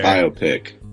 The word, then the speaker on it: biopic: YouTube video for me it just sounds like bio like your biography and pick like picture like a bio pick so like I don't